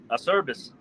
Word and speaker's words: Acerbus: I am interviewing semper Acer bus there's another way to pronounce it and how do what's another way to pronounce it again a service a service okay so I apologize I